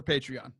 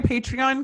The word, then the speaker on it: Patreon: Liv, you start the commercial for Patreon. Hey, Taylor, how do you say that word that looks like patron, but it's like Patreon?